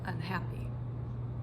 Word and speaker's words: unhappy: So just like with that example, unhappy, all I did was add an unstressed syllable to the beginning of the word unhappy. So it's It's almost like uh it's almost like I didn't even say it.